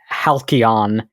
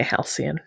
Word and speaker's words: halcyon: like I know Hian I always pronounced it Helion. Not sure if that is a correct pronunciation or if I was just going it is etmologically more correct but I think in English we say Hian.